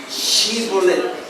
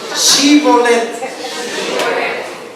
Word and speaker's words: Shibolet: Entonces le decían, ahora, di pues, diga conmigo, Shibolet. No. Shibolet. ¿Cuánto comen chivo? Guisado, horneado, chivolet. Porque no podían pronunciarlo correctamente.